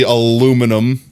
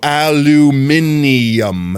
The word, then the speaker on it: aluminum: I could say, even though I'm bad at English, it's definitely aluminum. Google, pronounce aluminum. Aluminum. There's no aluminium. There's no extra I there. It's not aluminium.